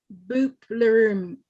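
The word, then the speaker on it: Bupleurum: well it's got something called andro graphis and boopleroom and i'll spell it b-u-p-l-e-u-r-u-m and it's it's something in there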